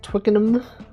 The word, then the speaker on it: Twickenham: Actually, it's pronounced twickenum.